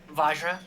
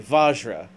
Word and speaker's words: vajra: to the last one Joe how do you say this so I don't like butcher it really terribly vajra okay vajra you can see where